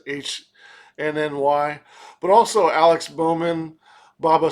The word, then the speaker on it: HNY: Uh HNY who sometimes I I feel like I want to say henny, but I don't think that's pronounced that way. It's just the abbreviations HNY.